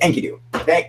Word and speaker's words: Enkidu: That's it, Enkidu.